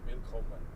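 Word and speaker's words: Willkommen: Will common or vil? Wil common. Wilman. That's the difference.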